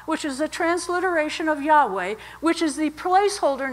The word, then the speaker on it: Yahweh: And then, of course, they put vowels in to pronounce it, Yahweh, Yahweh.